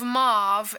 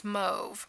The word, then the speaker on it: mauve: to say you know instead of mauve as a pink it's mve so you know it's it's uh tomato tomato right okay this is one